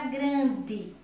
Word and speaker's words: grande: Então vamos lá na palavra grande. Grande se escreve com E, porém se pronuncia com I.